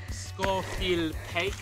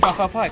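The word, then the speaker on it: Scafell Pike: right now being like, you pronounce Scarfell Pike wrong. So, sorry. I've never done it before. Scarfell Pike. There we go. I think that's how you pronounce it. I believe it's pronounced Scarfell Pike.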